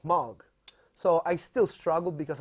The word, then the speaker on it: Moog: pronounce mug or Moog you pronounce muck you pronounce mark like like rock mug because it is actually a Dutch name I had no idea